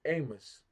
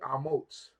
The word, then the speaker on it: Amos: burden to strength so my son is not really Amos right or Amos as everybody calls him Amos right his name is really amot with a s sopi which is name means strength or strong amot not Amos it's not it's not Amos it's not Amos but is amot amot so there's a different